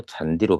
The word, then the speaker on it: 잔디: 잔디는 그대로 잔디로 발음됩니다. 왜요?